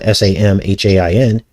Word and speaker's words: Samhain: Which is actually spelled s a m h a i n, but it's pronounced Samhain.